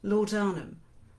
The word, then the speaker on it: laudanum: To ease the pain from a recent injury, she's taking more and more laudanum, and some in her immediate circle are happy to keep her well supplied.